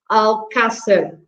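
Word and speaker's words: Alcácer: word uh al casser because there is an accent on the a so um and you were not pronouncing uh you were stressing a bit later uh but it should be al castel um and speaking about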